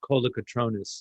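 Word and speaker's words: Kolokotrones: gave the uh award and their name is pronounced Kola katronus like phonetic okay well uh fantastic thank you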